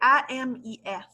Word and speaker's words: AMIS: C'est AMIS. Comme ami.